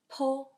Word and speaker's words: p: And P we pronounce Po, Po.